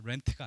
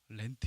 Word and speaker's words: Lent: 합니다 발음을 주시면 됩니다 그랜트가 아니라 렌트 입니다 줘 뉴스 아이들한테 이거 설명 있는데 목사님 아파트 새로 어디서 어디 간다고 에 멘트가 아니라 l 입니다 lent 인데요 2월 14일이 예아 쉔